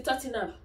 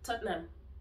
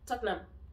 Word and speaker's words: Tottenham: one is tottenham for football friends they say tatina it's not a tina it's too silly but actually tottenham tottenham tottenham you don't say tortena it's not so